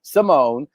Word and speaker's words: Ximone: misspelled your name your your name is spelled that way simone but it's with an x and not an every